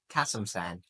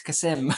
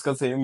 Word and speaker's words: Kasem: No, Kasamsan, like the way the Americans pronounce it. Oh, damn. Yeah, Yeah. whenever I look at the IPF streams, whenever Yeah. he competes, it's always like Kasamsan. Yeah. No, it's Kasem. It's Kasim, bro.